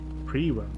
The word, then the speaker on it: Priwen: Priwen? Okay, that's how you pronounce it.